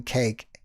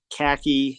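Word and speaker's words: Kaake: You just do Cake, and that's K-A-A-K-E, not C-A-K-E. Yeah, right. Right? That's right. K-A-A-K-E. I know, it's not the C-A-K-E. one of those names that people don't know how to pronounce. Sometimes they say khaki.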